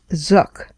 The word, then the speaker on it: Zuk: Marlene Zuk, rhymes with book, even though it's spelled Z U K, is an evolutionary biologist